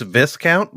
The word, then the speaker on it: Viscount: That's the rumor I've heard is that Yes, it's pronounced Viscount. Viscount. I think it's Viscount, like discount.